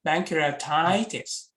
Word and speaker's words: pancreatitis: then one Korea titles pancreatitis okay when you make a stress syllable you you make it louder and a bit longer so bankruptitis you see pancreatitis okay okay what's the